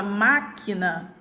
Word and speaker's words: máquina: Na palavra máquina, eu tenho a minha última sílaba e minha penúltima sílaba considerada como sílaba átona, porque elas foram pronunciadas com menos intensidade.